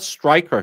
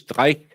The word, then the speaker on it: Streich: He's not Stryker. His name is Streich. It's German. Sue, just because you're redneck doesn't mean that other languages just doesn't exist.